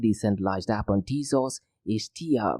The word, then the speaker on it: Teia: And finally, the third decentralized app on Tezos is TIA, which is spelled as TEIA, and if you look